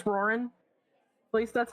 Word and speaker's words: Roran: It's Roran. At least that's how I've always pronounced it.